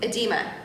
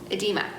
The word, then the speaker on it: edema: And how do I pronounce that word, Bill? Edema? Edema.